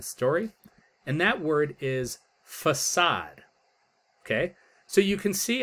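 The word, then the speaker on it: façade: And it's not, if we look on the left here, it would be facade, right? That's how we'd pronounce it. But facade is a French word. And there's this little symbol underneath the C.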